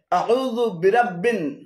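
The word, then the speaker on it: أعوذ برب: এখানে আউ এবং জুবিরাব্বিন উভয়টি ভুল উচ্চারণ। শুদ্ধ উচ্চারণ হবে আউযু বিরাব্বিন, 8 নম্বর সূরাতুল ফালাকের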